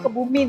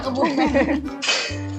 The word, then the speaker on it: Kebumen: Kebumen, wah, Kak, Kebumen gak sih kamu bacanya Kebumin ya? Oh iya Kebumen. Katanya nama lain dari ketan lapis srikaya ini di situ namanya Sri Muka Kak.